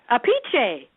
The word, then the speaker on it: Appice: They said there's another brother, and he pronounces it a different way as well. Let me think. So if it's Appice, Apiche. Yep. How's that? That's it. Yep.